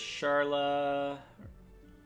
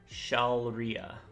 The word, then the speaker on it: Shalria: He goes Charla. I don't even think it's pronounced. It's Shalria.